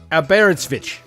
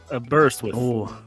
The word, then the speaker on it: Aberystwyth: Aberystwyth. Aberystwyth. Oh, not far. Aberystwyth. Aberystwyth. It's called Aberystwyth. So it's just like it's spelled.